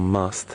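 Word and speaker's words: musth: Now if he was in something called must, which is a sexually active period where he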